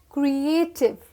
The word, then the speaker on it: creative: Next we have this word creative. What is this? CREATIVE. Creative. 3 parts में pronounce करेंगे. Creative.